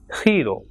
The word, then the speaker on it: giro: So word like GENIO will be pronounced as genio, and GIRO will be pronounced as hero.